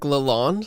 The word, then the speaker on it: Lalonde: Derek Lalonde.